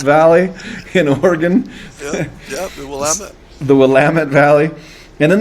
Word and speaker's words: Willamette: And how that happened is they went out to the I'm going to get this name wrong, with the Willamette Valley in Oregon. Yeah, the Willamette.